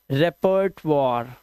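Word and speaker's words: repertoire: रेपर्ट वॉर। रेपर्ट वॉर और last का ई silent. रेपर्ट वॉर।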